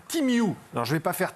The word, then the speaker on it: Temu: Alors je vous le dis tout de suite, déjà il faut savoir que Temu, ça se prononce, Timiu.